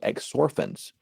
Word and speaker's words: exorphins: these chemical compounds called exorphins which sounds like the word morphine they bind on to